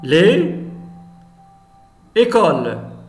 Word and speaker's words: les écoles: On a les écoles. Les écoles. On fait la liaison. Les écoles. La même chose. S entre deux voyelles.